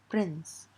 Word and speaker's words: prince: E, I or Y, then C sounds like S and not K. For example, scent, prince. Here you could see that when CE is present at the end of a word, then the E is silent.